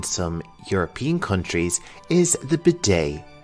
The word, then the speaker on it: bidet: European countries is the bidet. The T here is silent. This is a French word in origin, so it is pronounced a little bit differently than you might expect.